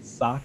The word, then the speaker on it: Sokka: They call him Sokka. Yeah, that's not his name, right? Not even close to his. It's literally Sokka, and they try to make it sound like soaking water.